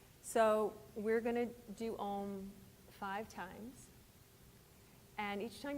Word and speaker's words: Om: do some all own so ohm is is Sanskrit it's actually three syllables AUM with a focus on the M and it means absolute